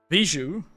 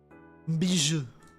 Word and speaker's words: Bijou: And I know that the big HoloLive Vtuber, Bijou, is... I think it's... How do you spell jewel in French? How do you say it? Bijou.